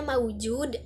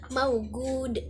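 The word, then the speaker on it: موجود: Terus dalam Amiyah Mesir juga huruf jim itu dibacanya itu menjadi ga tuh, kayak kan tulisannya maujud berarti dibacanya maugud.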